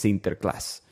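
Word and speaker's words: Sinterklaas: Ellos establecen esta colonia de Nueva York en Estados Unidos en el siglo X y ellos celebran a San Nicolás pronunciado en holandés CTERClass.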